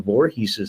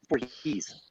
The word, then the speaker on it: Voorhees: They kept getting mad at me on set because I kept mispronouncing Jason Voorhees' name.